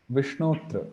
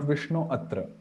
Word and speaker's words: Vishnotra: Vishnotra, not Vishnu Atra, Vishnotra, Haritra, like that.